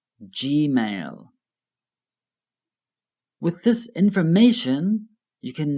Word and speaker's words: Gmail: Notice the pronunciation of G in Gmail. Gmail.